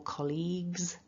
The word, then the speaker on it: colleagues: Remember, when it's in plural, colleagues, singular, colleague. So that's the key thing, is don't allow the G and the U to throw you off. And we need to get that voiced Z for the plural S.